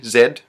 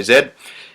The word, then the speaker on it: Z: we say we pronounce z Zed um you know the Americans say Z we say Zed and the head of